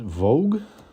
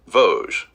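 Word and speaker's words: Vosges: for the Heidel- Heidelberg Was it Vogue? I forgot how we pronounced it. Vo- Vogue? That That's how you see how bad my memory is. But this was correct, this one. We verified that. Let's say it together. Voge. Voge. Voge.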